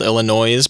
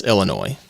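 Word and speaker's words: Illinoise: of people will say that album is called Illinois is but it's not if you look on the spine that just says Illinois like the state and I adhere to that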